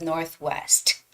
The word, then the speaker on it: Northwest: words together you know you don't have to pronounce the T at the end of Northwest it sounds more like